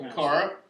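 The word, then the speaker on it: Aqara: One, the Akira, how do you pronounce it? Akara.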